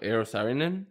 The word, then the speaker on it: Eero Saarinen: He was in architecture, so maybe you know how to pronounce his name. Can you read that? What, Eero Saarinen?